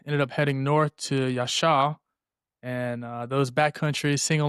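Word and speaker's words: Yaxhá: Yasha.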